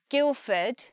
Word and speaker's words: Guildford: I do know that when we say the word Guildford, we don't hear the D. We just hear Guildford. And importantly, we don't say ford. What ford? We have a schwa, so it just becomes fud.